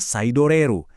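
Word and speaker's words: サイドレール: Namanya saidoreru.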